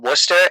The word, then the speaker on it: Worcester: Like we have a town called Worcester, and it is not spelled the way it sounds.